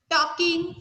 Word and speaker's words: talking: L is silent letter, so that we Ma'am, should L.